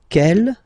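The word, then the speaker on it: quelle: q l l but it's pronounced like the masculine form Kell the masculine k at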